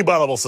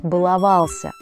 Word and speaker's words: баловался: кто из нас не баловался сам здесь Ургант прав во всём кроме ударения правильный вариант баловался И никак иначе полиция заметила это остановила